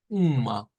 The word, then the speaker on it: uma: voy a quitar es es una una salizada Uma Uma como Uma Y eso para decir una